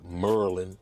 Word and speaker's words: Maryland: uh M I'm in Maryland AKA Merlin that's how they say it out here Merlin I'm in Hagar's hagertown